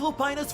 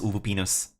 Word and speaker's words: Lupinus: And in the next year, all of Lupina's virtual games will... This is before I know that it's actually pronounced Lupinus.